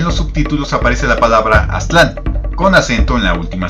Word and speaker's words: Aztlán: del náhuatl es que las palabras en ese idioma tienen el acento fuerte en la penúltima sílaba. Por ello, si lo han notado en videos de este canal, pronuncio Tenochtitlan en lugar de Tenochtitlán, Teotihuacán en vez de Teotihuacán y Aztlán en vez de Aztlán.